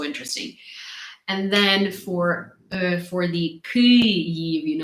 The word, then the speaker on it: Kyiv: And then for the Kyiv, like I know that people have a very hard time pronouncing so I usually say that Kith, like Kith, has a very similar sound as Kyiv.